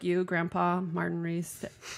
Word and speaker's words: Riese: And like you, Grandpa Martin Riese. How do you say your last name? Riese. Riese. Like Porsche.